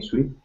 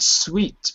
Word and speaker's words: suit: and also pronunciation of this word, suit. Suit. Yeah, not sweet, but suit.